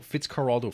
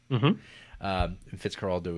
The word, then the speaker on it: Fitzcarraldo: Fitzcarraldo is how the people in the Amazon pronounce it, Spanish. That's how it would be kind of spoken, I guess.